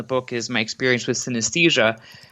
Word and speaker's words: synesthesia: sthesia go ah so synesthesia not an easy term to spell or pronounce uh essentially is made up of the roots sin and aesthesia so sin means together while esthesia means sensation so it's kind of